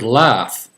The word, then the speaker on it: laugh: The word laugh, L-A-U-G-H. Well, the A-U in this case, it's a short A sound. And the GH, for some strange reason, I can't explain it, it's pronounced like F.